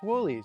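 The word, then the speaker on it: Wholey's: I know it looks like Wholeys, but it's actually pronounced Wholeys. Actually, I met the owner one day here and he told me the best way to remember it is to think of woolly mammoth.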